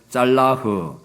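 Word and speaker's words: צלח: 두 번째 단어가 뭔가 하면 짤라흐라고 하는 단어인데, 잘라크라고도 하고 짤라흐가 더 정확한 발음입니다. 짤라흐.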